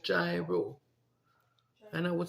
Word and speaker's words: gyro: a place called gyro and we would say gyro and it's actually pronounced gyro is it a Greek remember the